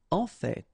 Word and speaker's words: en fait: En fait. So whether you pronounce the final or not, you can hear both. En fait, en fait, en fait. I'd rather pronounce it personally.